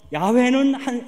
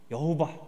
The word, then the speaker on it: 야훼: 그래서 야훼는 하느님은 주님이시다 라는 뜻으로 조합을 한 거예요. 그래서 우리가 그걸 굳이 발음한다면 모음이 생긴 거니까 야훼 혹은 여호바 이렇게 발음을 하는 거예요.